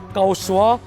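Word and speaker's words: 高市: 그러니까 다카이치 총리의 이름의 중국식 발음 까오스와 중국어 말썽꾸러기를 뜻하는 까오시더 어떻게 합니까?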